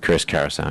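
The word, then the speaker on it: Chris Cariaso: Is that how you pronounce it? Yep, Chris Carousel.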